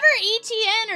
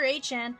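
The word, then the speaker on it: Etienne: That is uh Patrick Eric Carman, Woody Marks, and Trevor ETN or Trevor Hn. Sorry. Uh, no. It's HN. Trevor Hn. Yeah, it's pronounced HN.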